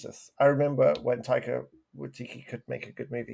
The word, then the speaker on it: Waititi: I just need to stop you right there and just Watiti. Am I saying his name wrong? Am I saying Yeah, you are. Waikiki like the island? You're saying Watiti. Watiki like the torch. Taika Waititi.